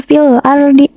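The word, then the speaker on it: فِي الْأَرْضِ: Harus dibacanya itu alif lam dibaca jelas, fil ardi. Nah, huruf filnya ini dibaca dengan jelas. Terus huruf ro-nya ini dibaca dengan tebal atau takhim.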